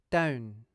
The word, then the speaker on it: don't: As with all words that end in a t consonant, when connecting to another syllable that begins with a consonant sound, we can use a glottal stop without making any t sound.